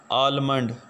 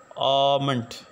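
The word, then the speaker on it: almond: कुछ यूँ पढ़ते हैं, आलमंड, आलमंड। हालांकि ये गलत प्रोनाउंसिएशन है, इसके अंदर जो लेटर एल है वो साइलेंट है, तो इसकी जो करेक्ट प्रोनाउंसिएशन है वो है आमंट, आमंट। एक जो है इसको हमने थोड़ा सा लॉन्ग खींचना है, आमंट।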